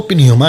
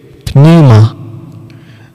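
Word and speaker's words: pneuma: सुनिए जी प्ले करो पिनोमा ओके वापस वापस प्ले करो न्यूमा ओके पी बोल रहा है लेकिन साइलेंट में है ना निमा राइट है मैं भी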